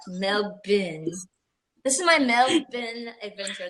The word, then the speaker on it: Melbourne: Melbourne. You have to say it like that. Melbourne.